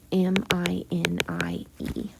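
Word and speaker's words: Minié: Okay, so now we've got a new type of technology called the mini ball, and the mini ball is spelled M-I-N-I-E. It's French, actually. It's like mini ball, okay?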